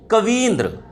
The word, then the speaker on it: कवींद्र: बनती है जाके, तो कवींद्र। जोर लग रहा है? उच्चारण कीजिए, कवींद्र, ई बड़ी, ठीक है।